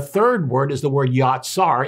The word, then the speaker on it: yatsar: The third word is the word yatsar. It's spelled J-A-T-S-A-R.